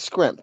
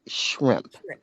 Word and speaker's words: shrimp: don't realize it, like if somebody says scrimp and that's just how they pronounce it, I always come and get caught. I say, when you out in public and you're not being funny, I realize that you're not, that's how you pronounce it. It's actually enunciated shrimp.